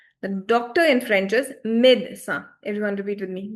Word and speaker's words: médecin: So, for example, doctor in French is Now, the pronunciations I've written this time in the brackets itself. The doctor in French is médecin. Everyone repeat with me. Médecin.